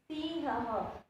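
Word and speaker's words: सिंहः: Here the 2 dots is called a visarg, that I have already explained in the Chitrapadani word, right? And it pronounced as ha. Shashakaha, Shrugalaha, Vanaraha, Sinhaha. It pronounced according to the last vowel, right?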